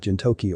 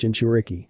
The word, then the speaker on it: jinchuriki: answers yes Naruto nodded you said something about jintoki or something it's pronounced jinchuriki it's a word my wife invented and used